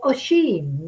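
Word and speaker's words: Oisín: So Oisin, Lily tells me it's pronounced.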